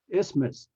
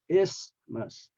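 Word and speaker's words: isthmus: this word is uh what's a middle sound for this word actually is not a th because the th is silence so the middle sound is the S sound isus okay too fake ending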